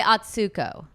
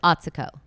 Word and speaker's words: Atsuko: I used to say Atsuko." And now I know it's Atico.